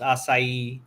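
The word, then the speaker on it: açaí: And number 2, and that's pronounced acai.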